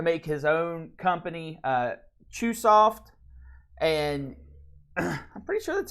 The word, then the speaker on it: Chunsoft: The dude uh went on to make his own company uh Chunsoft. And I'm pretty sure that's how it's pronounced. Yeah, it is. Chunsoft, sorry.